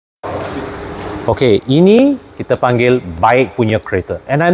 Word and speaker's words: BAIC: And I'm not kidding you because I always thought it was pronounced BAIC, but officially they actually call it BAIC globally. All right, you go to the global HQ of Beijing Automotive, they will teach you to pronounce this as BAIC.